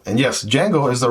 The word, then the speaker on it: Django: this wonderful EDC knife right here the kungu D Jango and yes D Jango is the right way to pronounce this word because for whatever reason right